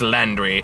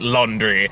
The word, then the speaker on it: Landry: I'm pretty sure it's Landry, but I'm gonna pronounce it Laundry because it makes me kind of fun.